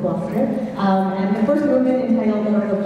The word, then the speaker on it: Gloucester: Don't let all of the extra vowels and consonants in the title fool you. It's pronounced Gloucester.